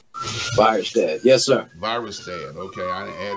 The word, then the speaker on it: Virastan: It's called Virastan. Did I say it right? Virastan.